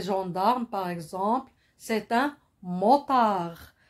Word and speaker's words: motard: répéter hurler là un motard un mot par celui qui monte sur la moto comme les gendarmes par exemple c'est un motard il se termine ce mot se termine par la lettre d une lettre mais aussi